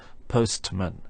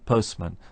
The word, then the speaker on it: postman: this in individual words if we take the word Postman for example the normal way of pronouncing Postman is with no to sound in the middle of course we can slow down our pronunciation and say Postman if we wish but normally we just say Postman similarly we say Westminster and not Westminster and this happens within